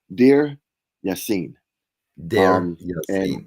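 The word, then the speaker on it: Deir Yassin: to share it here is this pronounced uh Duren yeah de it's it's pronounced dear yen okay right now uh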